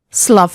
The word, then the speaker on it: slough: Uff, slough off.